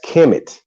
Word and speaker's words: Kemet: This name is commonly vocalized as Kemet, but was probably pronounced Kumat in ancient Egyptian, right?